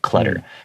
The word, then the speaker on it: clutter: clutter this word clutter even though it has two t's I pronounce it more like a d clutter you can't say clutter